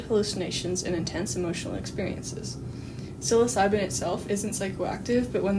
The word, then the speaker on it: psilocybin: So to start off, our listeners may not be familiar with salosipin mushrooms. So what are they? Well, first of all, it's actually pronounced psilocybin.